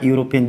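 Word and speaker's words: European: चला गया, तो हमारा यूरोपियन। जब ई का उच्चारण या हो, या ई बिल्कुल बोला ही नहीं जा रहा, यूरोपियन ही बोला जा रहा है, ई साइलेंट है, तो यहाँ पे क्या आ जाएगा?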